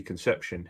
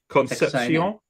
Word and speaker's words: Concepcion: 27 take, I'm going to call him Casey Conception here. What do you say that? Yeah, how do you pronounce his surname? Out of Texas, is it? Yeah, Concepcion.